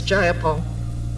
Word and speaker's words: Jayapal: If you're going to say my name, please say it right. It's Jayapal.